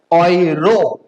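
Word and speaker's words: Euro: Okay, next E एंड यू अगर साथ में रहेगा तो उसका प्रोनाउंसिएशन क्या होगा? ऑय। ओके, जैसे ऑयरो।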